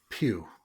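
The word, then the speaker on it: Pugh: Meanwhile, Florence Pew, is that how you say her name? Pew.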